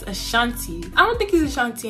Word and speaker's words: Ashanti: my dad is from the assange region ashanti i said asan cheese ashanti i don't think he's